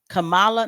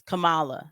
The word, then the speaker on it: Kamala: Camala Harris Kamala right I don't say Kamal Cala not Kamala it's Kamala it was always Kamala I don't know why anybody ever like capitulated to Kamala it was it's spelled Kamala anyway she was trying to